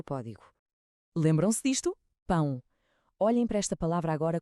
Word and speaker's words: pão: Vemos um A com um til por cima. E o que é que aprendemos? Que o til nos grita nasalização. O a junta-se ao O para criar um som único, o ditongo ão. E o til comanda que esse som tem de vibrar no nariz.